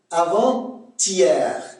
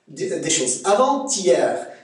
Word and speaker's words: avant-hier: Première différence, avant-hier. Là, il y a un T, il faut prononcer avant-si. Le T, c'est TS. D'accord? Ça, c'est la première des choses. Avant-hier.